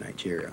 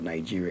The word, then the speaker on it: Nigeria: represents the people of Nigeria. Actually, the right pronunciation of Nigeria is Nigeria, not Nigeria. There's no J in the spelling of Nigeria. It's N-I-G-E-R-I-A, Nigeria.